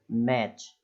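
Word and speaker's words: match: जैसे देखिए सिंपल सा है, मैच, तो अब इसमें टी साइलेंट क्यों हो गया, मैंने क्या बताया कि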